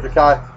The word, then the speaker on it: Takei: Godzilla, but George Takei from, I believe it's pronounced George Takei, from Star Trek did a lot of the dubbing in all these monster movies.